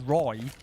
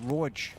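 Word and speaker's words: Roej: Whereas Roy, even though, once you know how to say it, it's fine. Mate, nobody who isn't Danish knows how to say that. No one would be saying Roj.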